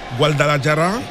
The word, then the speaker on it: Guadalajara: The name of the team is Guadalajara. Voilà. If you have to pronounce it like someone who is around the Hispanic or the Mexican area. Guadalajara.